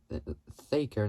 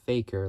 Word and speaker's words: Thaker: Thaker, not Faker, like as in with an F, but it's with TH.